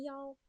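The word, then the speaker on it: 幺: Ingat kan kalau angka 1 dibacanya yao. 0 itu ling.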